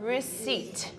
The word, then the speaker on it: receipt: The receipt. 그렇죠. Receipt가 아니라 중간에 있는 P는 묵음이죠, silent요. 네, 스펠링 receipt, 영수증 말씀드릴게요. 네. R-E-C-E-I-P-T예요. 네, 그렇지만 receipt가 아니라 P는 묵음이기 때문에 receipt로 발음하죠.